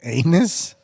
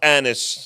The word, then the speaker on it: Anis: Was it anus? It's pronounced Anis. Anis.